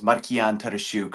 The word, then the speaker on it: Markian Tarasiuk: The more complicated way to say my name is Markian Tarasiuk.